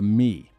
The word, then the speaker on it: me: The Sumerians had a concept they called the Mi, pronounced roughly like may.